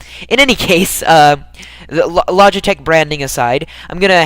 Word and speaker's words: Logitech: I imagine it's Logitech, though, because it sounds like logic, and that sounds like the kind of thing that people would brand themselves as. In any case, the Logitech branding aside, I'm going